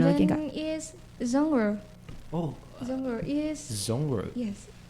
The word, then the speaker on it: genre: Oh, itu pronounce-nya genre gitu. Yes. Oh. Genre. Oh, genre. Ya kayak Bonjour. Perancis ya.